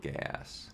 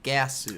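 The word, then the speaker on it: Geass: she called it code gay ass gay ass well it is technically pronounced like gasu I know G so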